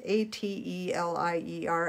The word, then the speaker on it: Atelier: it's a fine mist water sprayer i can't pronounce that brown a t e l i e r at eightler atelier and let that mist help those droplets